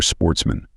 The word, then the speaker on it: sportsmen: good family who were Sportsmen a French word pronounced with the accent on the men the only trouble was